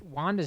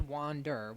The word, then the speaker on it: Wander: Lead animator Masanobu Tanaka, who's in charge of Wanda's animation. It's interesting that they call him Wanda. A lot of confusion there. His name is Wander. Wanda is how Wander would be rendered in Japanese, being pronounced.